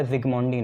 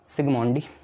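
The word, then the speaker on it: Zsigmondy: सिग्मोंडी Z silent होता है, ठीक है, बाई सिग्मोंडी SIGMONDY, पर जेड साइलेंट होता है ना, जेड कहाँ है, ये रहा सिग्मोंडी, ठीक है।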